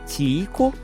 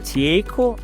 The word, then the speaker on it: Tycho: E curiosamente, não há muito consenso sobre como pronunciar esse nome. Em inglês, alguns dizem Tycho, outros Tycho, e o sobrenome pode ser Brahe ou Brahe.